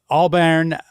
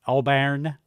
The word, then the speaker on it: Albarn: Um Alburn I think I'm saying that right. Albarn. Albarn. Uh that's how I would pronounce it.